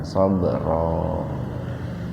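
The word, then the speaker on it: صبرا: Ro-nya dibaca panjang dua ketukan, sabra.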